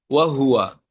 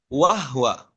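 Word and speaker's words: وهو: Contohnya misalkan pengucapan kata wahua, ya, wahua. Misalkan kita hanya bacanya tidak jelas dhammahnya pada huruf H, ya, maka terdengar seperti bagaimana? Wahwa, ya.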